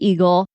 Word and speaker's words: Eagle: just making sure I pronounced the name correctly and just like eagle and I said oh